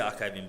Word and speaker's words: archive.ng: lot of people because they don't know that to say archive.ng or archiving. So just say archiving, but spell it archive.ng.